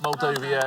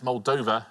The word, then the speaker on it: Moldova: Not Moldovia, it's Muldova.